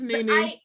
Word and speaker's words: NeNe: It rhymes with Renee. It would I don't want to say Nene, but I know it is. It's Nene.